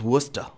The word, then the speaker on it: Worcester: Worcester Massachusetts it's spelled real goofy but it's pronounced Worcester twenty nine thousand eight hundred ninety-two knew what